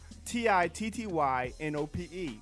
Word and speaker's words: tittynope: The word is titty nope. Let me spell that. TITTYNOPE, like titty nope. All right. And the word. That sounds like two words.